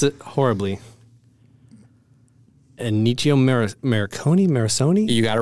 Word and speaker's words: Ennio Morricone: Composer's name was, I'm going to mispronounce it horribly. Ennio Morricone?